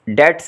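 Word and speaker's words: debts: unable to पे डेट्स, डेट्स इसमें B silent है, डेट्स कर्जे जो होते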